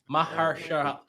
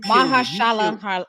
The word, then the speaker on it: Mahershala: Marshala. That guy, Mr. Ali. Mr. Ali, I have a lot of reverence for you. Marshala Ali. Right. You Mahershala Ali.